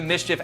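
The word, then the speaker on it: MSCHF: Again, Mischief is spelled M-S-C-H-F. Thanks to Mischief for sponsoring this video, and thank you to you guys for checking out Mischief.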